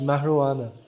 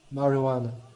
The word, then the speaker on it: marijuana: It's pronounced marijuana. The J in Spanish is pronounced as an H, marijuana.